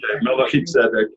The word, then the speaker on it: Melchizedek: Melchizedek? I've heard it different ways. I prefer the Jewish way of it because it's Melchizedek.